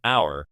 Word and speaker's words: hour: The two words that make up happy hour do share the same letter, but they are pronounced different. The H is silent in hour, but not happy.